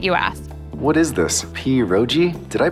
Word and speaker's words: pierogi: What is this, pierogi? Did I pronounce that right?